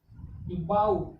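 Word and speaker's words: bough: GHT क्या हो गया, जिसमें से GH क्या हो गया, साइलेंट हो गया, तो क्या हो गया, STRAIT, स्ट्रेट। स्ट्रेट मीन्स सीधा। बाउ।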